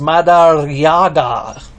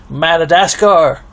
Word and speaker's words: Madariaga: My last name is pronounced Madariaga. Good luck trying to say that. People have bad luck trying to say my last name. They either say Madagascar, Marijuana, Marijuana, Madurya, one guy even called